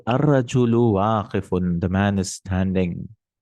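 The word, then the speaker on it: الرجل: You won't say al-rajul. No. Ra is a shamsi letter, half shamsi. So you say ar-rajulu waqifun.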